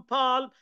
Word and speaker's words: palm: Palm, palm. ال تكتب ولا تلفظ.